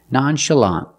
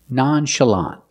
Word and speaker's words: nonchalant: relaxed sound closed uh nonchalant the last syllable is the open ah sound like in hot and stop together nonchalant stress the first and